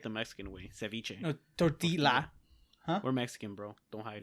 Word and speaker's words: tortilla: No, tortilla.